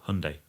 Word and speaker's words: Hyundai: is a superb car, but it's a Hyundai or Hyundai. That's another thing. The pronunciation you'll get lots of hate if you say that wrong, but I think it's Hyundai.